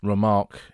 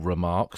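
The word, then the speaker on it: Remarque: that in a fictionalized account but who was remark himself he was born as Eric Paul remark spelled differently to the way his surname is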